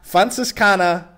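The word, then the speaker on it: Franziskaner: say it how do you say Frances kana fun sis kana Hefeweizen nice okay also I also like how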